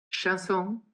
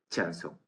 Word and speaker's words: chanson: un momento determinado, pues cuando le pones la palabra chanson, de repente el andaluz que dice muchacho dice chanson. Digo, no, vamos a ver. Pronuncia chanson como tú dices muchacho y te dice chanson.